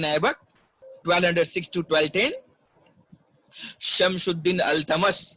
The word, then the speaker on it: Iltutmish: Shamsuddin Al-Tamas. You can see it is written at Iltutmish, but we will just pronunciate it like Al-Tamash.